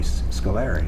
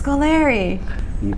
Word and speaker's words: Scolari: Kim last year where he called me Scolari yes he did Scolari that and that threw me for a loop when I saw I said oh it's Scoleri but if you play